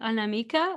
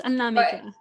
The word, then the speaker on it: Anamika: pronounce your name because I pronounce it of course with my Portuguese pronunciation and I would say anamik but I'm not sure if the tone is on the right place that that's that's actually pretty correct an Nam but it's Nam yeah the the tone